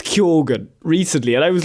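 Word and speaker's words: Keoghan: last name you know whereas Barry gets Keegan or or Kogan or you know but me easy to understand. Barry Barry actually said it was Kogan recently and I was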